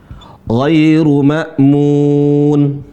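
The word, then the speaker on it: غير مأمون: Nah, jadi G cara bacanya bukan kayak G ya. Tapi kalau pemula enggak apa-apalah ya. Tapi harus belajar G tidak sama seperti huruf G.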